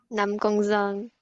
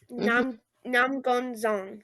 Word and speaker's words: Năm Con Giông: Năm Con Giông. Yes. Nam Gon Zong.